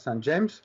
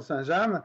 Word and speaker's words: Saint-James: Il y avait la présentation de Saint-James qu'ici on prononce Saint-James. Mais je défends la prononciation Saint-James, à présenter leur plus